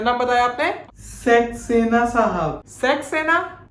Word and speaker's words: सक्सेना: ओह, सक्सेना। हाँ सक्सेना। अरे पापा, सक्सेना नहीं, सक्सेना। हाँ वही तो बोला, सक्सेना। अरे सक्सेना। सक्सेना। अरे रुक, मैं समझाता हूँ। अंकल, सेक्स नहीं, सक बोलिए, सक।